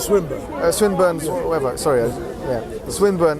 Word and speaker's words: Swinburne: All of those individuals like Plantinga and Swinburne and it's called Swinburne. Swinburne, whatever. Sorry, Swinburne. It's not his called. It's just a pronunciation different.